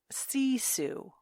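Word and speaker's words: sisu: made me chuckle was it remind me of my mother my mother's name was Susan sure C Su SE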